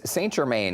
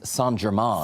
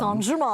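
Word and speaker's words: St-Germain: I cannot believe this is happening, Lauren Kelly, because St Germain, as I have been incorrectly saying my entire life, because it's St Germain. St Germain.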